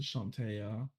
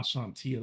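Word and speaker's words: Chauntea: very religious uh to chantaya or however you want to call her damn nate ah seantea that's how you say it technically ah damn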